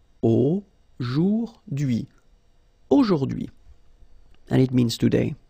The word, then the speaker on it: aujourd'hui: H is not pronounced, so you only get this DUI thing. Aujourd'hui, aujourd'hui, and it means today, okay?